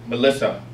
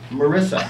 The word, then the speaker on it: Marissa: As my eldest cousin, Frank, reflects, Grandpa was always overjoyed to see his great-granddaughter, Melissa. Frank was wise enough not to correct, but remind Grandpa that it was actually pronounced Marissa.